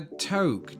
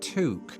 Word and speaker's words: toque: A toque. That's not how you say it. It's pronounced toque.